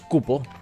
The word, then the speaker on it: Kupó: Digo Cupo, pero lleva acento en la O, así que es Cupo.